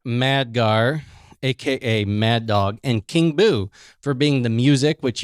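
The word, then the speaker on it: King Buu: So remind them one more time how King Boo is spelled. Yes, King Boo is spelled king as in king and boo, B-U-U.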